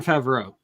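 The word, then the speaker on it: Favreau: Favro. Um you know the actor who plays Happy and Iron Man. Please. Uh, oh, Jean Favro. Thank you, Favro. I never can pronounce that correctly.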